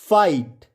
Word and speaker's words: fight: तो आपको पता है GHT में आया GH हमेशा साइलेंट होता है।